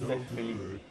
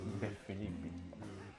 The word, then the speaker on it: DeFilippi: In Italian, my last name would be pronounced DeFilippi. But here in America, we used to say DeFilippi.